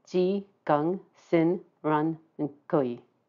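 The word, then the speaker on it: 癸: And I might pronounce it as Kui, more of a K sound, which is what I usually hear. But that may be my weirdness in my ears. Or it might actually be more of a Cantonese pronunciation.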